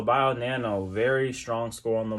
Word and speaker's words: BioNano: let's switch over to bingo bio nano that's what it is buy on there no i said it wrong all right so bio nano very strong score on